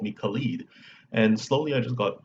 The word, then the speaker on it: Khalid: or anything like that, just they called me Khalid. And slowly I just got used to it, and I just prefer that pronunciation now.